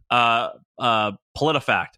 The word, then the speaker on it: PolitiFact: No, Politi, POLITI fact. PolitiFact. PolitiFact.